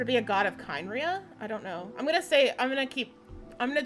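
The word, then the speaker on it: Khaenri'ah: So could it be a god of Kynria? I don't know. I'm gonna try to correct part of my pronunciation, but it's Kaya's damn voice actor. So I usually end up saying Kynria, but it's Conria.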